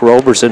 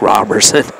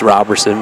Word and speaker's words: Robertson: state was called Zack Roberson at the end I asked his mom m she said actually it's Zach Robertson it really is pronounced Robertson everybody called him Roby